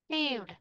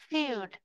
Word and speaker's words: field: Và số 23 này nhớ là âm cuối của chúng ta là âm đơ. Không phải âm tơ. Feed. Field. Âm giỏ là âm đơ. Field.